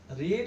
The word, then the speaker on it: read: রিড হচ্ছে present form, এর past form হচ্ছে রেড। বানান একই কিন্তু উচ্চারণটা একটু আলাদা।